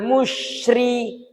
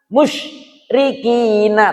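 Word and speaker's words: مُشْرِكِينَ: Cara bacanya juga tidak boleh sampai berhenti. Karena ini bukan sakta, karena ini bukan bacaan yang harus dibaca berhenti. Tidak boleh kita membacanya minal musyrikina. Musyrikina tidak boleh. Itu ditekan dan berhenti. Tidak boleh. Tetap harus mengalir.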